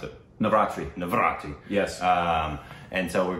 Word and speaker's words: Navratri: Say it for me again so I don't mispronounce it. Navratri.